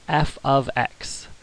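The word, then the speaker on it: f(x): That whole expression is pronounced f of x.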